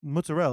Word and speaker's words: mozzarella: I get some extra mozzarella on that and cuz muzel is how you're supposed to pronounce it yeah I'm the